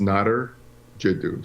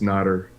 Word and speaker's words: Nadir Jiddou: Well, first, my name is pronounced Nadir Jiddou. So you're close. It's just not Nadir. So it's Nadir. That's the way to pronounce my name.